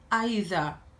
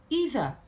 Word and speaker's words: either: The word either can be pronounced in two different ways. You can say either or either. The two are correct.